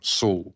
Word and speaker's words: Saul: mess with and that's everyone gets it wrong all the time is pronouncing of my name Soul s correct yeah Americans get a a spot on yeah but for years I've been called Soul um s i